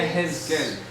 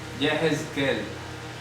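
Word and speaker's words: יחזקאל: Yehezqel. Ese sí. Ese sí. Yehezqel.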